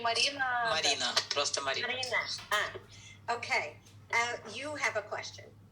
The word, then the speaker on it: Marina: And Marina, am I pronouncing that right? И Марина... Марина, просто Марина. Marina.